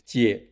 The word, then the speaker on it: 姊: The pronunciation of 姐 is similar to the first syllable of "jealous."